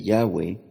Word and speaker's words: Yahweh: pondré a continuación el porqué el nombre de Yahweh es la pronunciación correcta vamos a hablar sobre la letra